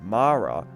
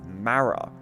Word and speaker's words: Mara: And this is where you can tell that they filmed that before as Tegan pronounces Mara as Mara.